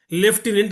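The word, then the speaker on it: lieutenant: మీకు ఒక ఉదాహరణ చెప్పాలంటే ఇంగ్లీష్లో లెఫ్టినెంట్ అని ఉంటుంది. స్పెల్లింగ్ ఏముంటుంది? LIEU TENANT ఉంటుంది. దానికి లెఫ్టినెంట్కి సంబంధం ఉందా?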